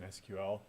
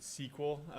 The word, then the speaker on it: SQL: which is databases in SQL. SQL stands for Structured Query Language. You'll hear some people pronounce it SQL. They're probably coming from a Microsoft background if they pronounce it SQL. Otherwise, it's just SQL.